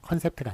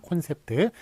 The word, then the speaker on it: 콘셉트: 요건 5를 쓰기를 했습니까 컨셉트가 맞습니다 컨셉트가 아니라 콘셉트를 코앞에 있는 게 맞다 그래서 여기서 좀 주목해야